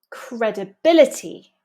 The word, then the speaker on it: credibility: Credibility, credibility. Comprehension, comprehension. Notice that these words come from Latin and we have penultimate syllable stress.